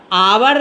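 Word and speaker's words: hour: क्या एन जैसे आवर्त अवर लिख दिया तो अवर के इसका उच्चारण जब भी रहेगा ना अवर लिखता है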